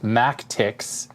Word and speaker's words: MacTX: It says, "Hey Adrian, here are the mAcTX, pronounced mAcTX." So it's M-A-C-T-X, so mAcTX kits I told you about several months ago.